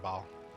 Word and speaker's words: Baal: Let's see, there's 5 acts total, because once you have the expansion, third of ball. Or Baal, depending on how you say it.